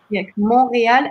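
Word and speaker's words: Montréal: you say Montreal again just like monreal and roll the r a little bit Yeah okay gotta got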